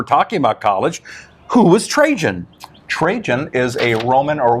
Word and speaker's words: Trajan: what trajan wealth yeah t-r-a-j-a-n a lot of people don't know how to spell it uh-huh it's not trey han not not train not trojan it's trajan wealth i know it's a